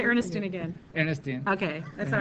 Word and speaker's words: Ernestine: I did say it right say Ernestine again Ernestine okay that's all right all right so what's